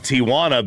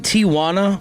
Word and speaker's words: Tijuana: going to be in Arizona, they moved to Tijuana because it was just easier for them to have everybody they needed. So when they get to the game, they play the game. Are you saying Tijuana or Tijana?